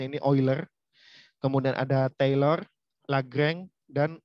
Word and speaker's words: Euler: Nah, ini bacanya sudah pernah saya beritahu, ya, di sebelumnya bacanya ini Euler.